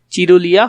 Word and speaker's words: চুরুলিয়া: নজরুল ইসলাম জন্মগ্রহণ করেন চুরুলিয়া গ্রামে চুরুলিয়া গ্রামে তিনি জন্মগ্রহণ করেন চিরুলিয়া হবে না চুরুলিয়া হবে একটু ভালো করে দেখবে